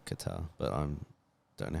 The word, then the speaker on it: Qatar: cuta it's cute Airlines is it qutar is it Qatar Qatar I think I think you're right like guitar but guitar I think it's Qatar but I'm don't know